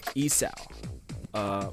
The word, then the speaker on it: isaw: So our next food is isaw. Probably said that wrong too. It's okay. It's a Isaw. common theme. Yeah. Isaw.